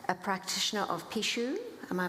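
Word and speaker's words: pixo: Eneri is a Pishadora, a practitioner of Pishu. Am I pronouncing that correctly?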